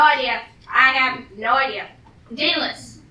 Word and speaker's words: Daedalus: Starts with D, ends with S, and rhymes with Aeschylus. Sort of. Who? Wait, no, Pegasus! Rhymes with Pegasus! No idea. I have no idea. Daedalus.